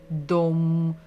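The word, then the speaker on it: дом: need my help, because the second letter is O, the same as like in English, German, French, or Swedish, and the last one is M, om, dom, d, om, dom.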